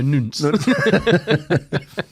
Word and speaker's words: nonce: So nunts. Turns out we were pronouncing it wrong. It's a nuance. No, nunts.